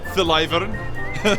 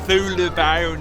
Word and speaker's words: Thulavarn: Guys, you see the way he pronounced it? Thylavern. It's pronounced Thulavarn in there.